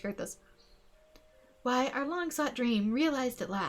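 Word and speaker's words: Coerthas: Gotta remember it's pronounced Kurthus.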